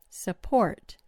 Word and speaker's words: support: Try another word. Support. Support. The vowel in the first syllable turns into a schwah because that syllable doesn't get the stress.